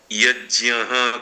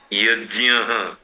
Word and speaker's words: यज्ञ: इसलिए इसका उच्चारण हम लोग यज्य करते हैं। यज य यज्ञ पीछे विसर्ग गुजराती में ज की जगह पर ग का उच्चारण यज्ञ और न को न बोलते हैं।